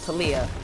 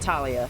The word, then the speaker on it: Taliyah: hello am i pronouncing i think you're pronouncing it right now taliyah not talia to leah we got this ah